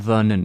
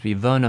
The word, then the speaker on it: Werner: who's werner verna herzog it's not vernon it's it's w it's german isn't it german because it's verna herzog but it starts with a w werner but you pronounce